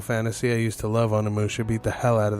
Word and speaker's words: Onimusha: Anything Final Fantasy, I used to love Onimusha, beat the hell out of that game, or Onimasha, however, some people pronounce it differently.